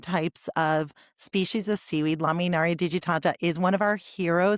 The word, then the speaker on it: Laminaria digitata: It's laminara. Laminaria digitata.